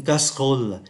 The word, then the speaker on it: casserole: thành 2, bởi vì âm tiết ơ ở ký tự ơ ở cuối không có đọc, và âm tiết có chứa được ký tự ơ nằm giữa cũng không có đọc.